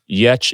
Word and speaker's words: Giertz: Yetch is spelled Giertz. So obviously different phonetics for letters in Swedish.